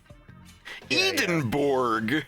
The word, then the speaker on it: Edinburgh: how do you say the other place uh Edinburgh edinborg yeah Glasgow and Edinburgh i' I'd like to